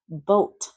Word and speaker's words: boat: Boat, boat, boat. Careful, that A is always silent.